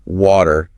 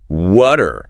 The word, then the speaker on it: water: Water. Classic example, American English. That flap again. Water. Right. British English. Clear T. And notice the vowel sound is often different, too.